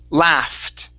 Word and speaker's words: laughed: Okay, so this ed will be a T sound as well. The GH is an F. So this is laughed.